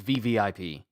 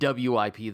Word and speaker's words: VVIP: WIP this whole time, it's VVIP. I've been saying WIP this whole time cuz there's a space in between it. The VVIP, it's not WIP. The V's are just very close. I've been saying it wrong since the jump.